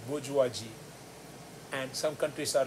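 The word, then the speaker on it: bourgeoisie: the idea main one if i have to say the bujuwaji which is the money class you heard a few people saying bhuji it's come from bujuaji now well if i have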